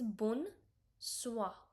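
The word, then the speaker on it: bonsoir: Next is bun swah. O Y sound is like W.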